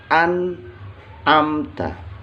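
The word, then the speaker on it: أنعمت: An ini nunnya nun sukun atau nun mati. Setelah nun mati atau di depan nun mati ada huruf ain. Nah, huruf ain ini adalah salah satu huruf idhar. Jadi dibacanya an'amta. Annya jelas. Bacaannya annya jelas.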